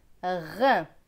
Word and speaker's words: rein: Ici, on a R avec EIN. EIN, c'est 1, R et 1, rein. Très bien. On va refaire cette ligne sans aide. Main, pain, plein, bain, grain, rein.